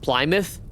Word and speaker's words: Plymouth: Plymouth is pronounced Plymouth.